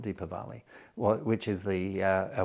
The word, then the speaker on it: Deepavali: then there was uh Diwali or deepavali uh or Diwali depending on how you want to pronounce it deeper Valley which is the uh